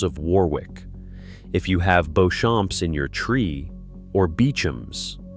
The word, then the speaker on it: Beauchamp: If you have Beauchamps in your tree, or Beauchamps, say it the English way, the spelling is French, the pronunciation is Beauchamp, and the name means beautiful field.